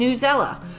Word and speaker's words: Newsela: between pear deck and newsela or news ela i've heard it pronounced newsela and i've heard it pronounced news ela but i'm going to call it newsella so i love both